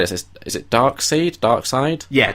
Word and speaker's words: Darkseid: So one of the theories I read was, and I don't know how to say this, is it Darkseid? Yeah, Darkseid.